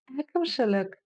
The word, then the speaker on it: әкімшілік: Әкімшілік. Попробуйте сделать легкую полуулыбку и кончиком языка упереться в нижние зубки. И уже, исходя из этого, произносим нечто среднее между буквами и и.